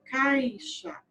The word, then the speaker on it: caixa: Porque a vogal que eu estou pronunciando com mais intensidade é o A. Eu falo caixa. Quase você não ouve, né, o som do I.